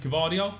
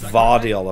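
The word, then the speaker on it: Gvardiol: pronounce his name yosco gardio it's vardal apparently vardo so the G do ex silent G right got you fair play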